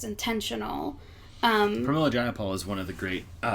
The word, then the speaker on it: Pramila Jayapal: And another thing is it Priya Jamel? How do you pronounce her name? Pramila Jayapal. Pramila Jayapal.